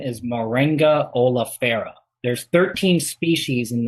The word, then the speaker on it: Moringa: We've got, I heard the pronunciation is Maroon Guy. Heard from Dr. Shiva, so maybe they say it like that in India. Do you know anything about the pronunciation? Yeah, you can say it that way.